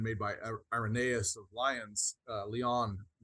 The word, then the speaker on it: Lyon: by Irenaeus of Lyons, Leon, I think is how you say it actually, in the 2nd century, where he said, God became man that man might become God.